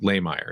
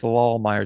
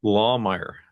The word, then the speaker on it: Lahmeyer: guest today is Jackson Layer. Am I pronouncing that right? Close. It's Lawmire. It's a good German last name. Lmer. Okay. Lawmire.